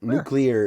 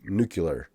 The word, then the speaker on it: nuclear: still do also nuclear nuclear is one that I get wrong all the time I I'm a new nucular new keyless printouts nuclear that's a Simpsons joke like the clear one is what I don't do I also I've got